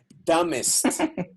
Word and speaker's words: dumbest: Now, let's remember that the B after M, and here's the pronunciation key again, B after M never sounds, okay? So this is a dumb letter. It doesn't sound in that position. So you say dumbest idea.